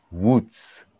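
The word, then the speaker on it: Łódź: polish friend of mine tried to teach me how to pronounce this name wutz is it's spelled l-o-d-z but it's the film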